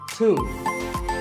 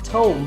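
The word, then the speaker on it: tomb: a similar-sounding word is too it's often wrongly pronounced as tone but the beat is silent and the o is pronounced with an inside so a - is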